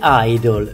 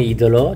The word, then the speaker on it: Idol: un fannullone Allora siccome fannullone in inglese si Dice esattamente come idolo cioè si pronuncia Idol ugualmente lui si fece